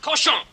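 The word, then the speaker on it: cochon: The word is pronounced koshon.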